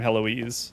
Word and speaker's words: Heloise: And I always keep messing up your name, Heloise, but I have heard it pronounced before, so I know that it's correct to say it the way I'm saying it now.